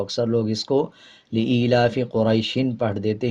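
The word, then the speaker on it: قريش: जब वक़फ़ करेंगे यानी आयत कंप्लीट करेंगे तो दोनों ज़ेर को साइलेंट कर देंगे और शीन की आवाज़ को आधा पढ़ा जाएगा, कुरैश पढ़ा जाएगा। और जब वक़फ़ नहीं करेंगे तो पढ़ेंगे कुरैशिन। जब वक़फ़ करना होता है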